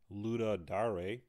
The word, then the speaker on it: Ludum Dare: based on wikipedia page i believe it's pronounced luda dare they just held their